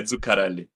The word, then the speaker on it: Zuccarelli: Okay, Zuccarelli. It's just that on the double C, you can just stay there a little more.